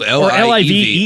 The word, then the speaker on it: Live: My name is Liv, but it is spelled Live.